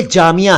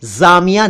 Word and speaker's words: जामिया: जामिया का अर्थ है university, community या सोसाइटी वगैरह, तो ये जामिया है, जामिया नहीं है।